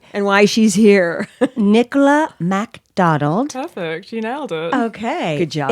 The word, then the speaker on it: MacDonald: everyone's like, they forget the A and they say MC, but it's MAC. Oh, I see. Mick instead of Mac.